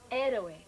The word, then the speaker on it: héroe: How do you pronounce it in Spanish, Mary? Héroe.